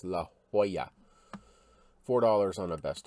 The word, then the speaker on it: La Jolla: diego rattan company 1950s i always want to pronounce that la jolla and i know that is completely wrong but i have to stop myself but it's la jolla four dollars on a